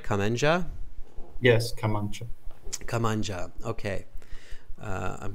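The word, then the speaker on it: kamancha: Am I pronouncing it right? Kemancha?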